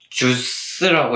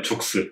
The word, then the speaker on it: ZOOX: 뭐, 주스라고 읽나요? 뭐. 주스가 아니라 죽스.